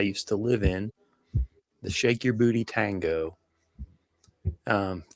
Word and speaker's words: Sheik Yerbouti: So he he he does pronounce it shake your booty.